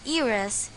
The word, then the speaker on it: heiress: This is because h in the words hour and heiress is a silent letter. We pronounce it as hour and heiress instead.